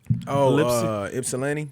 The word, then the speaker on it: Ypsilanti: Ypsilanti.